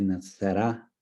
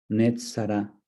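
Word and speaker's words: נצרת: De hecho, en hebreo el pueblo de Nazaret se dice Nazará, Netzará.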